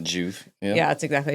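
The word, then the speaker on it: Joovv: I don't even know how you say it, Juve. Juve.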